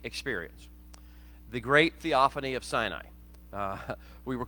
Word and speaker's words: Sinai: Sinai is the actual Hebrew pronunciation, but I'll use Sinai intermittently because most people are familiar with that pronunciation.